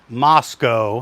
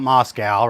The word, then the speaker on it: Moscow: they used to be in Moscow, not Moscow, right? Moscow, Idaho. And you know you're not a local if you say it wrong up there, and or if you have California plates.